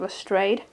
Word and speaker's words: Lestrade: Rupert graves who plays detective Lestrade on a Strad and we want to pronounce it pronounced both ways um so yeah this